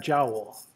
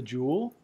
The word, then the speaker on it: joule: work is known as the jewel and I've heard guys from India that didn't learn English in the ordinary manner pronounce that jowl but most people call it the jewel 1.0 kilogram meters squared